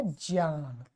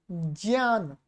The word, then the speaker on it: ज्ञान: ज्ञान। वस्तुतः ये बहुत सारे लोग इसका गलत उच्चारण करते हैं। ये है क्या वास्तव में? ये ऐसा है, ज प्लस न्य प्लस आ प्लस न प्लस आ।